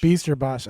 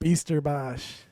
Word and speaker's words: Bijsterbosch: Bijsterbosch. I knew I'd screw it I up. believe it is Bijsterbosch. Bijsterbosch.